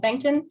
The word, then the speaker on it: Bengtson: To everyone that's watching, this is Bengtson. Did I pronounce that correctly? Yep, Bengtson.